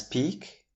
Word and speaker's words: peak: Another noun which is pronounced as peak is P-E-A-K, which means the highest point or level of something.